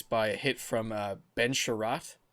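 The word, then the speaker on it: Chiarot: to the ice by a hit from Ben Sherratt. Correct me if I'm pronouncing that wrong.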